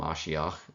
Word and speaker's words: mashiach: which means anointed one this is the English way of spelling and pronouncing mashiach which is the Hebrew pronunciation um it refers historically